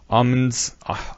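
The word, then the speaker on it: Aumann: have been already going on, because he mentions Ahmed's, is it pronounced Augmen's agreement Ahmed, theorem? I think. Say it. Ahmen? Ahmen.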